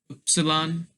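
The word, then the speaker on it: Ypsilon: I don't know why this one's so long, but that's just how it's pronounced.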